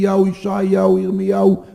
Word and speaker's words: ישעיהו: Nesse vídeo, que foi produzido dentro da Universidade Hebraica de Jerusalém, nós vimos que o nome do profeta Isaías é pronunciado Ishayahu.